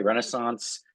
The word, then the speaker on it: Renaissance: She even said I can pronounce it the the American way, Renaissance, to make it a little easier for me.